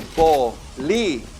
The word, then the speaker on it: bolígrafo: But for now, just know that when you see one of those accents, it's there to tell you I'm special, and you got to say me a little bit stronger. Okay? So we're going to say that syllable a little stronger than the other ones.